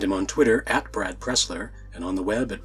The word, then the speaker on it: Pressler: by Brad Pressler Brad Pressler whose surname rhymes with wrestler writes from Cincinnati Ohio